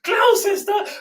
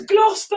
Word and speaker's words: Gloucester: about laughing you know i was like ah clown sister oh it's gloucester obviously oh harry which was